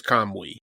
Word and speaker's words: Kamui: don't know if it's kamui what is it I don't think you I think the UI is like Kam I'm pretty sure it's kamwe that part you don't pronounce the you that part so yeah so we